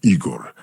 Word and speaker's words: Igor: I I just uh it Rhymes ego right yes yes my name is Igor uh so I wondered